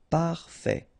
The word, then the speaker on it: parfait: Parfait. Final not pronounced. Parfait.